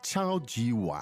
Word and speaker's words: 超级碗: 超级碗. Yeah, very straightforward. Super and bowl.